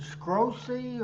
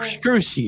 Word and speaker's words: Scrushy: Who is Richard Scrosey or something like that? Scrushy.